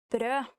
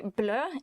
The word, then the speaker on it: brød: Actually, if you mistake the pronunciation of brød and say blø, it means bleed, so be careful.